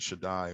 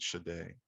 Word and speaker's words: Shaddai: shade is i mean they pronounce it shaddai we pronounce it shade from the almighty therefore